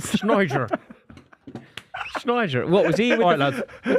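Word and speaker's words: Sneijder: Ballon d'Or that yeah I don't think I've ever heard anyone pronounce the J in his name is such a good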